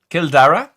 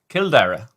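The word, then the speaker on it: Cill Dara: Kildara is the Irish for Kildair. Kildara. So like Dra. Kildara in Mandela Park, my friend.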